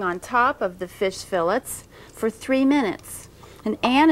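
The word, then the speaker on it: filet: the word that we use in describing fish is spelled f-i-l-l-e-t and it should be pronounced fillet if you're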